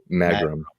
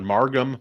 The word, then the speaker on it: Magrum: Oh yeah, Magrum. I figured Magrum. Kahuna would be easy to get. Yeah, Kahuna's pretty straightforward. Yeah, easy actually. No, I've heard Margum, Magnum, Magrum, Magarum, like M-A-G-A rum.